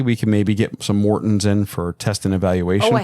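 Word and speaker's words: Maurten: at their they have drink mixes morton right morton m-a-u-r-t-e yeah even though i'm saying it probably wrong no that's how she pronounces it right okay there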